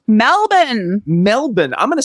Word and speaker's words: Melbourne: the first one it starts with an M Melbourne Melbourne I'm going to spell that for those of you who are not in Australia it's m e l b o u r n e many of us might have pronounced it as